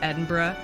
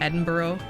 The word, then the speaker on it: Edinburgh: Gunt's head, that like it's Edinburgh, not Edinburgh, because we have places here like in Ontario that have the word borough in them, and it's pronounced borough for us, and so like it is so natural just to see it and say Edinburgh, and he was like,